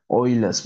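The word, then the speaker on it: Euler: easiest easiest one is the ESS method or some people pronounce as oiless meod so right meod right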